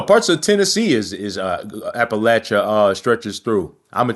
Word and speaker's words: Appalachia: Like what does J.D. Vance say? Appalachia? No, man. It's Appalachia.